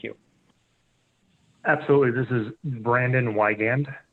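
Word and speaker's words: Wiegand: proposed settlement thank you absolutely this is brandon wygand it's w-i-e-g-a-n-d i'm the regional general manager of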